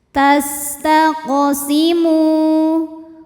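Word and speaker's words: تَسْتَقْسِمُوا: Kemudian huruf qof-nya dihukumi dengan qalqalah sugra karena ada huruf qalqalah yang sukunnya ini sukun asli dan ada di tengah bacaan. Maka dibacanya dipantulkan dengan pantulan yang kecil. Tastaqsimu mu mad thobi'i zohiri. Karena ada wau sukun didahului baris dommah. Maka huruf mim kita panjangkan dua harakat.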